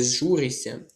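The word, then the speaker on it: зжуришся: Тому що якщо у вас є букво сполучення шси, ми його передаємо як с як ся. Шся. Передаємо тут я як ся м'який подовжений звук с.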